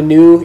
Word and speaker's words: nu: you come to a new, you're going to pronounce it like a V. And you just got to stop and remind yourself, nope, that's a N. N. New, as in new.